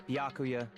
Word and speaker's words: Byakuya: It's Byakuya.